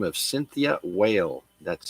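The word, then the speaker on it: Weil: a young lady by the name of Cynthia whale that's spelled we l born in 1940 she's an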